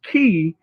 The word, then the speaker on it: Ke: My name is is key, but it's spelled K E.